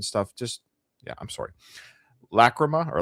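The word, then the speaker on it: Lachryma: Lacroma or Lacrimma. Lacma. Lacroma. So, both Peacefield. Lacroma.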